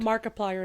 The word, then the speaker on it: Markiplier: They released it in like over a thousand theaters I want to say like and Markiplier is how you say Markiplier.